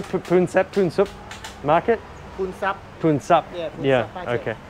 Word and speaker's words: Poonsap: Poonsap.